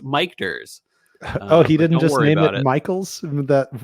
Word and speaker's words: Michter's: same time that's right it's pronounced mikers oh he didn't Michaels